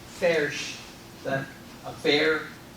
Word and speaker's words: Foerch: I'm told he coached me on how to pronounce his last name. Foerch.